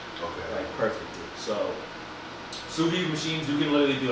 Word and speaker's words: sous vide: Pronounce it one more time. sous vide.